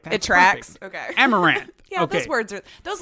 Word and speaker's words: Amouranth: I think it's pronounced Amaranth. Amaranth. That looks right. Amouranth, something like that.